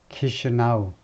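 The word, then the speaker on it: Chișinău: 이 앞에다 액센트를 두고 이 첫 음절에 키시아누라고 읽네요. 키시아누가 수도다 이거죠. 몰도바의 수도가 키시나우.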